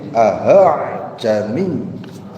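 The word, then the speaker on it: أأعجمي: Di situ dijelaskan, coba dilihat cara membacanya di tengah-tengah antara hamzah dan huruf ha, sehingga lafaz yang keluar seperti hamzah dan tidak juga seperti ha.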